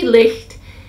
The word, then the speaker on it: licht: Pronounce it how it works for you, but it should be licht.